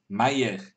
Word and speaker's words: Mayer: Is mayor pronounced mayor? No, I wouldn't say so, but it's pretty close. Mayer. Georg Mayer is what I would say.